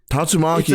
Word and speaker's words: Tatsumaki: No, Tatsumaki is correct.